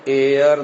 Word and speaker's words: heir: the word HD ayah it is pronounced as air north air the last